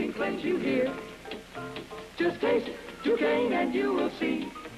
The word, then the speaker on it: Duquesne: It's pronounced Duquesne.